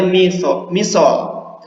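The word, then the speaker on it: مثال: Oke, misol itu, ini dibacanya misol.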